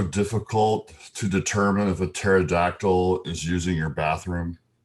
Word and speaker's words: pterodactyl: Do you know why it is so difficult to determine if a pterodactyl is using your bathroom? Because the P is silent.